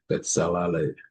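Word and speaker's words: Bezalel: Okay, we're going to have to flip it real quick so we can get the pronunciation down. It's Ale, Betsalale, Betsalale, Betsalale, Betsalale.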